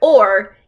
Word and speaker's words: o'er: Now, the word o'er is not like an oar you row the boat with. It's actually the word over, but to fit it into the song, they squished out one of the syllables.